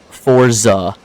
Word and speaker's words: Forza: Like pizza. Forza. If pizza is meant to be pronounced that way, why isn't it spelled that way?